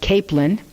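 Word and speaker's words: Caplan: grandmother's last name was CA P LAN they pronounced it capelin my grandmother's maiden my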